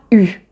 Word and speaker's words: eu: Ensuite, la troisième façon de prononcer EU, c'est dans le verbe avoir quand il est conjugué au passé composé. Donc, c'est le participe passé du verbe avoir. Et là, on va dire il a eu, ou elle a eu, j'ai eu, tu as